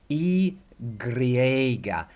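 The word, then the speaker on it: i griega: phonetics so this is e Greger and the are with the in the red italics is to get you to roll your are again but only a little bit grah gree agra agra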